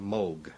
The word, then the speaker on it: Moog: to this is Robert Moog himself talking hang on G it's originally a Dutch name this goes back you